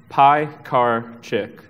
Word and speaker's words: Piekarczyk: anyway you're probably wondering how do you pronounce my last name p car chick uh I'm a UI